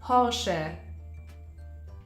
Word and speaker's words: Porsche: founded the Porsche idea hence the car brand is also pronounced Porsche fedin Porsche was also